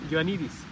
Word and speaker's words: Ioannidis: Se lo voy a deletrear, J O H O N, John, Ioannidis, doctor griego, I latina, O A N de nido, N I D de dedo, I S. Se pronuncia Ioannidis. Publicó un artículo en la